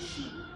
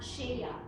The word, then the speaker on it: shea: butter Iyung she butter we pronounce it as shei Okay not sheya so Shea butter we